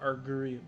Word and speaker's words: Augurium: Oh, Argurium, that is how it's pronounced.